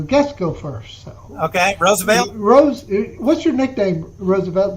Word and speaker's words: Roosevelt: a younger generation it's it's pronounce rose like the wine okay that's how it